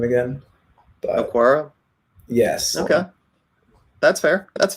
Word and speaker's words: Okwara: How we pronounce his name again? But Okwara?